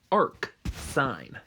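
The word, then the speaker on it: arcsine: so for instance the inverse of sine is arc sine that's how you say it verbally so the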